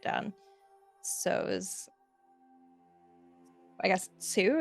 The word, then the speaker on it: Tsu: So is, I guess, Sue, is that how you pronounce it? Yeah. It's like TSU, an emperor most foul.